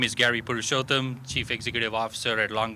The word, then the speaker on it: Purushotham: Is it Purushotham? The CEO Did I say that right? Okay, good. Um the CEO of Long Beach Memorial uh Medical Center. You said it right.